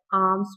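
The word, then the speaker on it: alms: first vocab है आम्स आम्स में L silent है इसलिए हम इसको आम्स प्रोनाउंस करते हैं आम्स खैरात या सदका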